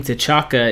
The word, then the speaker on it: T'Chaka: T'Chaka. Oh man, lag. Legacy, stop doing that to me. King T'Chaka is his dad, I believe, is his name.